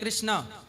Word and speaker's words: कृष्ण: रावण रावण कृष्ण कृष्ण न अब जैसे कुछ लोग कहते हैं कृष्ण ठीक है भाव ग्राही जनार्दन पर शुद्ध उच्चारण श्री कृष्ण ण है तो रावण कृष्ण